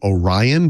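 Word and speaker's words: Oryon: was actually went under the name Orion but of course it's spelled like o r yo n oh ryion you know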